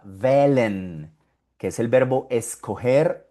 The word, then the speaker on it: wählen: Aquí tenemos de nuevo la H, mira acá la H y después de la H ves una L, una consonante. Ahí no suena, es muda. Wählen, que es el verbo